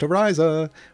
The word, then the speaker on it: Ariza: It's pronounced Ariza, which is get a piece of gear in each of her equipment slots.